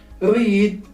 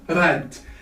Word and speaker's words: read: In the case of read, it stays as it is, but the pronunciation, the spelling, the sound of spelling has changed. So read, read, read. So the EA here are spelled as A.